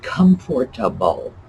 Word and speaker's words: comfortable: this word it's vegetable we do not pronounce that little syllable veg vegetable same thing with comfortable not how we pronounce it interesting no vegetable no we drop syllables and in fact interestingly